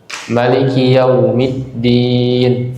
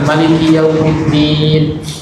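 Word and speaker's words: مَلِكِ: Mungkin ibu-ibu sudah pernah dengar juga bacaan Maliki Yaumiddin gitu. Jadi mimnya dipendekkan. Mimnya dipendekkan. Maliki Yaumiddin.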